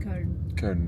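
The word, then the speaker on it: Köln: And actually, yeah, colon is the German way to write it, but you pronounce it kern because you have the double dots on the O. It's just kern.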